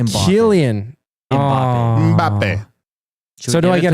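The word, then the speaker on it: Kylian: Kate, so you got the first name wrong. It's Keian. Killian.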